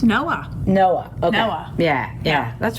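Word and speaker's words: NOAA: got really into the this how do you pronounce the name of the division for the chamber of commerce that um oh it's noah noah noah yeah yeah that's pretty neat national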